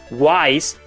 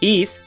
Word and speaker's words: Ys: The name also created a controversy with people believing the pronunciation was Wise due to an error on the packaging of the English release. It's pronounced Ys, and it was probably